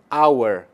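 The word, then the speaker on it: hour: entanto há ocasiões que mesmo no início da palavra o h não tem som ou seja não é pronunciado então nós temos aqui a house com som de R an our onde o h não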